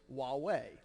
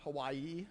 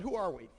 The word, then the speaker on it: Huawei: at the end is the pronunciation of huawei the thing on your lanyards is huawei not hawaii not some other term it's a company name it comes out of china fairly easy to pronounce but who are we so when we uh